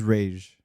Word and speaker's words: Ra's al Ghul: Well, the correct is Rage. It was Batman Begins that changed it to Ra's.